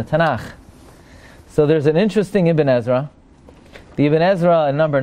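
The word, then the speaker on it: Ibn Ezra: so there's an interesting ebenezera the even Ezra at number nine in paris's boy which is this week's Parsha what do you know and please pronounce it Ebenezer not Evan Ezra um even Ezra says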